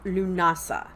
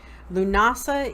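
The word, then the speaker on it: Lughnasadh: move into the first harvest and that is Lughnasa and that is spelled L ugh na s ADH that's Gaelic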